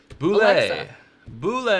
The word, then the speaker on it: Bulleit: hmm my maps help bula-bula as it was originally pronounced in the family is you know not made by boule for roses if if we